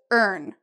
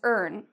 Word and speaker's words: earn: So like this, earn. And if you can't really remember, just think of the word learn, because we have the word earn in it, okay? So that should help you with pronunciation.